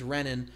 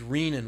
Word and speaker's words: renin: has to do with lactation so this is renin this is rein with a long e and rein is something